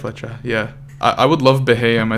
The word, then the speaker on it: Beheeyem: I would love Beheeyem. It's a really weird pick, but it's one of my favorite Pokemon these days because of. Is it not competitive. Beheeyem?